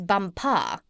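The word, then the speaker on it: Bumpo: out there as the Crown Princess bumpa you accent the last syllable and tell me did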